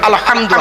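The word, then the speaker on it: الحمد: আলহামদু আমার বাপেরা গলা থেকে উচ্চারণ করবেন আলহামদু, হাই হটি, হাই হাওয়াজ নয়।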